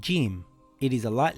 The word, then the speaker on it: Jeem: This letter is called Jeem. It is a light letter. In English, it is like the letter J in the word jam or the word jug.